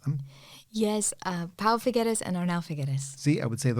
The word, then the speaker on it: Pau Figueres: me their names because they seem like I mispronounced them. Yes, Pau Figueres and Arnau Figueres.